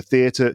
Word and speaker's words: theatre: but in the UK, they are pronounced with the stress on the first syllable.